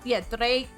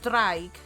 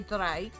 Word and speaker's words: draig: Because usually sometimes, Dreig. So, well, it's draig, so you'd say draig.